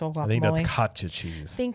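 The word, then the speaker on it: Cotija: the some chile sauce, and then uh crumbled kiote kyote cheese on top of the actual guacamole. That's katcha cheese.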